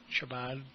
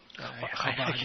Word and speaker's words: Chabad: I mispronounced it, the Shabbat. Chabad, yeah.